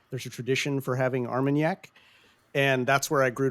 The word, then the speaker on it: Armagnac: It's called Amarniac. It's Are like you a saying it wrong? It's brandy, but No. it's it's different Oh! from Brandy, cognac. Oh. you could say Armagnac maybe.